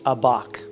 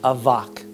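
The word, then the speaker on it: אבק: The Hebrew word used here to describe Jacob and God is abak. It's actually pronounced avak. The V in Hebrew looks like a B.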